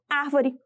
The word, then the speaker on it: árvore: A sílaba tônica de árvore é a sílaba a, que é a antepenúltima sílaba da palavra, e por isso ela é classificada como proparoxítona.